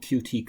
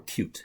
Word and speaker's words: Qt: is a program called QT creator or cute is how it's supposed to be pronounced actually QT cute this